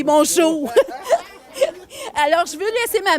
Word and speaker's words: Mongeau: Je sais qu'il y a beaucoup de Mongeon ici, mais mon nom de famille, c'est Mongeau.